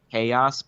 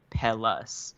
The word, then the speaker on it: Pellis: Okay, so I got confirmation that technically it's a Spanish term. It's pronounced Payas, but they call it Pellis. Okay. Like that's what everybody calls it. So they said it's okay to say Pellis.